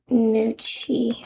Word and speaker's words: gnocchi: I'm eating gnocchi. I think that's how you pronounce it. There's like a silent G in front of it.